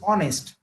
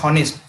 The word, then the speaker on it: honest: It is not honest. Don't call it honest. It is honest. Okay, people by mistakenly pronounce it as a honest.